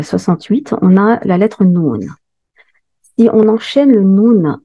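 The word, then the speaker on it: نون: On ne peut pas dire nou, non. On doit dire noun, wal qalami.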